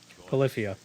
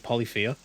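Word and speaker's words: Polyphia: Polifia.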